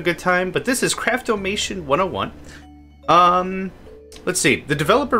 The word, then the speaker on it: Craftomation: This is Craftomation. I could probably hear someone pronounce this like Craftomaton 101. Yeah. The spelling's a little off for it to be Craftomaton, but I could see it.